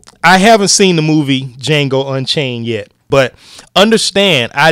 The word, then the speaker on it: Django: keep saying Django but we know the D is silent so D Jango Unchained well ironically I haven't seen the movie Jango Unchained yet but understand